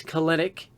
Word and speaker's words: Kelenic: Jared Kelenic, and it is Kelenic. I don't care what anybody else says, that's how you pronounce it.